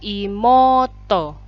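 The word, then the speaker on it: いもうと: seolah-olah double Oh ya ini juga sama untuk imouto jadinya imoto Hai jelas ya Hai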